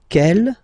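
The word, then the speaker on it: quelle: q l l but it's pronounced like the masculine form Kell the masculine k at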